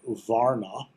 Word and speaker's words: varna: The caste system comes from the Sanskrit word varna. Well, that's the way it's pronounced in English anyway, which means type, order, color, or class.